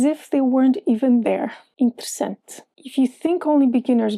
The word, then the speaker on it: interessante: Is there an E in the word outside of the queen syllable? If yes, you don't pronounce it. The word for interesting in Portuguese is a good example of that. Interessante. Since the queen is in sem, the other three E's just vanish.